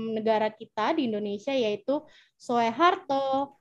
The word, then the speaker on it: Soeharto: kita di Indonesia yaitu Soeharto Soekarno yang benar adalah pembacaannya susu sesuai dengan UU gitu jadi Soekarno ditulisnya sehat Soeharto ditulisnya dibacanya Soeharto gitu jadi oe dibaca nah lanjut untuk materi